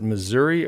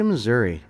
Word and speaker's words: Missouri: to the small town do you pronounce it missouri or missouri i say missouri okay because it's you're more on the western side right yep and so further east and south they call it missouri yep okay so you